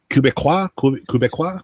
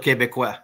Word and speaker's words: Québécois: Quebecois? Yeah, they call it Québécois. Sound like Okay. a Frenchman when I say it, but I can't pronounce it correctly, but I knew. Québécois.